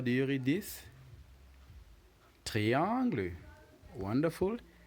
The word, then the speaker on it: triangle: is a triangle and just like in English it is spelled exactly the same in French but obviously the pronunciation differs so how do you